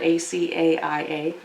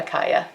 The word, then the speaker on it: Acaia: It's spelled A-C-A-I-A, Acaia.